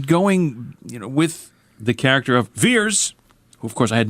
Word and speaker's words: Vers: No, because they pronounce it Veers instead of Vers.